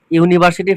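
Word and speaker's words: university: দেখো ইউনিভার্সিটি ইউনিভার্সিটি। তাহলে your উচ্চারণটা কার মত হচছে? ইউ ইউ। ইউর উচ্চারণটা ইউ এর মতই হচ্ছে।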